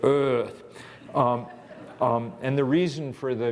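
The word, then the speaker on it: Eaarth: You have to kind of channel your inner Schwarzenegger to pronounce it correctly, sort of Earth.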